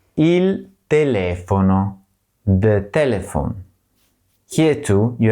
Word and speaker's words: telefono: the letter I is always pronounced E, as in panino, and the letter E is always pronounced as E, as in telefono.